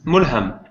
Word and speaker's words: Mulham: Uh, it's Mulham. Mulham. Yeah, it's a lot easier than the English L. It's like the British L.